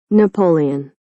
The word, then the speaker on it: Napoleon: Napoleon.